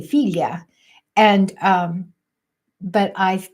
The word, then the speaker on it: figlia: word for daughter uh it's spelled fi g l i a and it's in in English it looks like figlia and they say filia and um but I